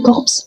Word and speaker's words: corps: Attention, ne dites jamais corps au corp, c'est le piège ultime de la prononciation française. Les lettres P S à la fin sont totalement muette et n'existe pas. On dit tout simplement corps.